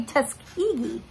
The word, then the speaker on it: Tuskegee: and i actually looked up google translate and that is how you say tuskegee so there you go